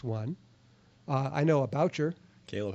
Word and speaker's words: Boucher: uh changed there's a bushy there's some people pronounce bushy it's that that b